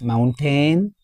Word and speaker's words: mountain: Do you pronounce it as mountain? It's incorrect. m u n t a i n. It is having how many s? How many syllables? Two syllables. Mountain. The stress is on the first syllable.